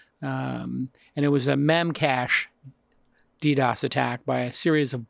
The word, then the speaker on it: DDoS: a network with these DDoS DDoS I guess is how people pronounce it just to do a